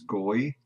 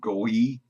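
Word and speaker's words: גוי: Transliteration is goy. The phonetic pronunciation, goy.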